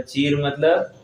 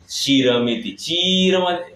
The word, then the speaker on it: चीरमिति: अभी देखो, खाली छोटी ची और बड़ी ची में कितना फर्क हो गया। हम इसलिए जब शब्द उच्चारण करते हैं ना, चीरमिति, चीरमिति करेंगे, वो कपड़े की ओर उसका संकेत जाएगा।